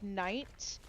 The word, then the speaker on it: knight: There's one, like KN, like night. Obviously the K would be silent. Oh, she's so right. Like, knight, and the sword and armor knight version.